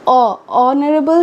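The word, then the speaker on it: honourable: ऑनरेबल तो start किससे हो रहा है, एच से, लेकिन एन हम लोग यूज़ करते हैं, क्यों, क्योंकि ऑनरेबल से प्रोनाउंसिएशन होता है।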